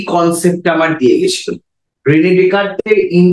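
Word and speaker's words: Descartes: 1619 তো এই কনসেপ্টটা আমার দিয়ে গেছিল রেনে ডেকার্তে ইন দা ইয়ার 1619 এই হোল কনসেপ্টটা আমায় আমাদের হাতে দিয়ে গেছিল তো তার নাম অনুসারে এই ডেকার ঠিক আছে এই উচ্চারণটা ডেসকার্টেস না ডেকারতে তো ডি এই এস এর উচ্চারণটা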